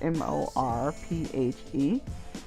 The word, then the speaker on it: Morphe: and this is the morphe stunning vibe palette for some reason I couldn't spell its morphe actually it's mor PhD now this is the